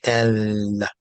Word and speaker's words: ل: But lamb, when pronounced in the mouth meaning the tongue, has to actually touch the top palate to Mhm. say el, Mhm.